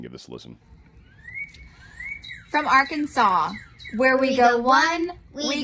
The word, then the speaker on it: Arkansas: And by the way, it's Arkansas. I just want to correct you. You're saying your state name wrong. Anyway, kidding. It's Arkansas. That's how you say it.